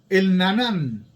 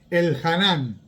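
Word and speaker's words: Elhanán: ¿Alguien recuerda a el Nanán? No sé si lo estoy pronunciando bien. El Hanán, ahí sí.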